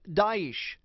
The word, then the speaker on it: Daesh: isil complicating things the third name they're called pronounced daish it's a derogatory term meaning to U suppress